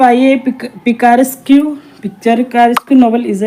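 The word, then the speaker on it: picaresque: पिकारिसक जो शब्द है स्पेलिंग्स पिकारो से लिखा गया लिया गया है। जिसका अर्थ होता है आवारा या घुमंतु। पिकारिस्क भी बोलते हैं इसे। पिक्चरस भी बोल देते हैं इसे।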